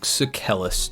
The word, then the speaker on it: Sucellus: And we're going to be doing Duke Sucellus today. Yes, that's how it's pronounced according to the wiki.